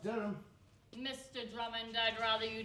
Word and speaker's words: Durham: Thomas Drummond of 1 Maureen's Terrace, South Biddick, County Durham. Actually, it's pronounced Durham.